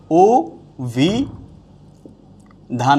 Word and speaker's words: অভিধান: যাবে তাইলে আমরা দেখছি অভিধানের জায়গায় কি হবে ও ভি ধান হয়ে যাচ্ছে তাইলে কি